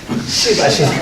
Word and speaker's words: 시바신: 그 믿고 있는 사람한테 시바신이 어떻게 생겼냐 그러면 발음 잘하세요? 쉬바신입니다. 쉬바신. 쉬바신.